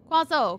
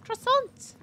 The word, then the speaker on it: croissant: always though crossant crossing quazo quazo quazo that's not how you pronounce it it's croissant croissant not quazo definitely not crzo too many Audi in